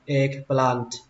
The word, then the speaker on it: eggplant: Cách đọc thứ ba các bạn bỏ âm t, eggplant. Eggplant. Tuy nhiên theo mình nghĩ các bạn vẫn nên thêm âm t vào tại vì nó nghe hay hơn nhiều, eggplant.